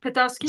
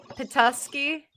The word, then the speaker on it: Petoskey: Oh, is it like Petoskey? Tusky? Yeah, that stuff. The Petoskey.